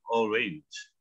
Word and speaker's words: orange: Untuk jeruk cara baca gini, orange. Sebetulnya a-nya itu bacanya kayak i lo. Cara mereka ngomong jadi orange. Cuma kalau ngomong cepet kayak kedengarannya kayak e ya.